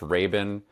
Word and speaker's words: Rabin: quick thing totally okay my last name is pronounced Ren and a lot of people